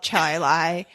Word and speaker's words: Chili: It's spelled chili. We call it Chili.